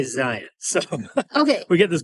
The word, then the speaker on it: Zion: So Utahns, this is how we say it, Zion. And my take on this is that Zion National Park is in our state, so the way the locals say it is the correct way.